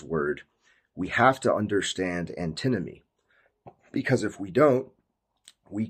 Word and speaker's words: antinomy: are not however there is a property called antinomy so it took me a week to pronounce this word correctly because I kept saying antimony which is an element but anteny what is